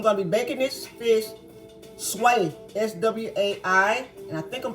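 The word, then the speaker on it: swai: Gonna be baking some butter lemon, whitefish, pronounced sway, and I think I'm pronouncing that right, S-W-A-I, okay?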